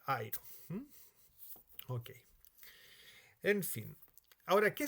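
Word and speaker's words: αἴρω: letra del diptongo pero se pronuncia en la primera letra airo Okay en fin ahora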